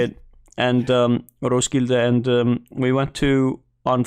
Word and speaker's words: Roskilde: Like I said, we went to Roskilde. That's like how they say it. And Roskilde, and we went to on Friday a bar